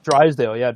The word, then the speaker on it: Drysdale: I might be saying his name wrong. Drysdale.